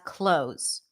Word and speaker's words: clothes: what happens is that people tend to drop the th here and just eliminate it and pronounce it as close close did you know